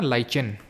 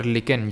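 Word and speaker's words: lichen: लाइचेन जो होता है ना, लाइचेन या फिर लिकेन, जो भी आप इसको प्रोनाउंस करो, ये एल्गे यानी शैवाल और फंगस यानी कि कवक के बीच का एक सिम्बायोटिक रिलेशनशिप होता है।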